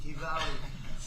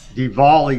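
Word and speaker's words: Diwali: we celebrate Da Dvali because they said there has to be a very heavy emphasis on the V Dvali Dvali beautiful Hindu festival of lights and that's what it is. It's a great festival and it's amazing people. Hindu festival. There you go. Dvali. That's not how it's spelled, but I guess it's with a V.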